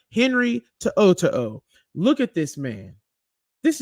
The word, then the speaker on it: To'o: Henry To'o.